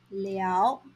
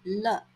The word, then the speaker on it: 了: Take note that the character 了 in 听不了 should be pronounced as 了 and not 了. It is wrong to say 听不了.